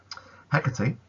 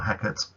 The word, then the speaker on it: Hecate: Hecate, or Hecate, depending on how you want to pronounce it, is the goddess or the queen of witchcraft.